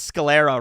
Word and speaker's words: sclera: You pronounce sclera right. It's sclera? All right, I'll just keep saying that. That person said I pronounced it right, so let's go with sclera.